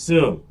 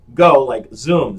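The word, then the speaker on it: Zum: The correct pronunciation of the company name is Zoom. Now, it's spelled Z-U-M, but it's pronounced like Zoom, Z-O-O-M.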